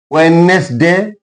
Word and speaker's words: Wednesday: Wednesday D is silent here.